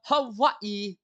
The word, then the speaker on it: Hawaii: to ask oh let me ask a true Hawaiian as to how that said that is actually